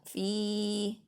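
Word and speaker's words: في: Terus ini fi kasroh ketemu ya sukun, ini adalah mad tobi'i, bacanya panjang 2 harokat atau 2 ketukan. Fi.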